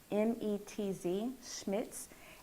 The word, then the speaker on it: Schmetz: Sure, I use, I'm going to spell it for you. It's SCHMETZ, Schmitz, and I use the jean needle.